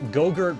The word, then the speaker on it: Jogurt: Yeah, Gogurt, but spelled with a J.